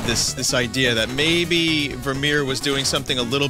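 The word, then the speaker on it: Vermeer: don't think it's start I don't think it's spelled with an R you fucker God damn it verir wow I I got it wrong both times it's it's Tim's verir sorry it's about um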